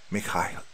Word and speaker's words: Mikhail: Pronounced his name phonetically. Mikhail.